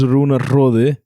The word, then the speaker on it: Runar Hrodi: The pronunciation? A little bit. Not really? My name is Runar Hrodi.